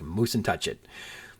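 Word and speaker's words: Mussentuchit: I can't vouch for its validity, but that's why I'm pronouncing it like moose and touch it.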